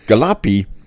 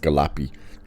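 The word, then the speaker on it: Galluppi: I think it's pronounced Galapy.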